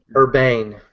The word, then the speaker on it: Urbane: Well, then I think you deserve a nicer watch, and that watch is the LG Watch Ur Urba Urban Urbane is how it's Urbane. pronounced.